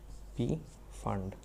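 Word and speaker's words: Pfund: is called p fund p is silent p fund after that it is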